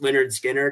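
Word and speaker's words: Lynyrd Skynyrd: And honestly, I've recently, probably about a month ago, I bought the Pronounced Leonard Skinner album, and I'm playing that on vinyl nonstop.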